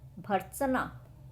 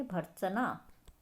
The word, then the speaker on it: भर्त्सना: भर्त्सना, भ के बाद र। तो र क्या है?